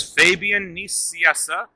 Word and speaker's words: Fabian Nicieza: hi this is fabian nissiessa yes that's how it's pronounced i'm the co-creator of deadpool and you